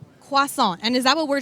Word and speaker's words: croissant: So we have croissant, we have chocolate croissant or pain au chocolat.